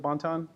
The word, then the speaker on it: Bonton: 175 it's called Banton anybody familiar with bonton yes okay bon-ton did I say it correctly bonton ok great very small only 3400